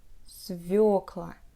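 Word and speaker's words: свёкла: the english language and most russian people pronounce it as civic la but remember don't repeat after the natives when we have the yo letter the stress placement will always be on this letter s vuoca and let's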